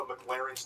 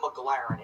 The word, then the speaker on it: McLaren: spends filling up a McLaren's tank. Okay, so this part pisses me off because he says the name wrong like 8 times in a row. It's not McLaren, it's McLaren.